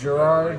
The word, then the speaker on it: Gerard: Pronounce it Gerard right.